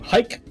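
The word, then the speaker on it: Hayk: my other programmer um hike his name is it's pronounced hike but it's h a y k right i said it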